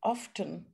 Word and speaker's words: often: i was often often my english teachers no um we don't have to pronounce the t what is the correct